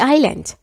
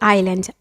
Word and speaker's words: island: I enjoyed hanging around the island. Hanging around به معنی گشتن و چرخ زدن. I enjoyed hanging around the island.